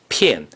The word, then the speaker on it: 片: 片 is the fourth tone.